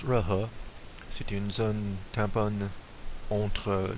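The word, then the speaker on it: Jehol: Le G-E-H-O-L, ça se prononce Rehe.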